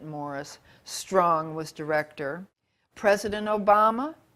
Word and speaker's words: Maurice: of which UN Agenda Maurice he pronounces it Morris strong was director President